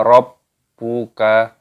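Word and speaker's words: رَبُّكَ: Kaifa fa'ala rabbuka, rabbu. Terdapat tasdid pada huruf ba-nya, maka di sini ditekan, dimasukkan, diidghamkan.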